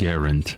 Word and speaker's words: Garand: Garand actually put out a note, and he asked that Garand. his preferred way of his name being pronounced was Garand, as in errand.